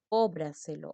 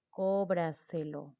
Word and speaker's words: cóbraselo: Entonces vamos a poner nosotros, a ver, cóbraselo, otro ejemplo. Cóbraselo. Mira, cóbraselo. La mayor fuerza de voz está aquí. Última, penúltima, antepenúltima y tras antepenúltima sílaba, como también ocurre aquí.